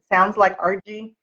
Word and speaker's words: Argie: And people, I told you, I still get mail that says R period G period, because my name sounds like Argie, R period G period, or argue.